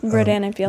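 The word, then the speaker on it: Rodan + Fields: Your mom has shared with us when she started working for Rodin and Fields. Is that how you say it? Rodin and Fields.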